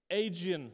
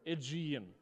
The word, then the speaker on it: Aegean: And you have on this side the Aegean Sea, or Aegean, depending on how you pronounce it.